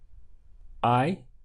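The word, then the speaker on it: hay: and that was I the H is silent so we're just pronouncing from here sounds like the English I now this little word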